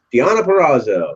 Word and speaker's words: Deonna Purrazzo: ring against, I hope I say this right, Deonna Purrazzo. Yeah, I couldn't pronounce it. Well, okay, it's Deonna Purrazzo.